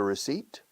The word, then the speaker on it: receipt: Did you keep a receipt? Yes, I kept a receipt. A what? A receipt. Un recibo, yeah. Receipt. Fíjate en la pronunciación. Se escribe receipt con una P super muda.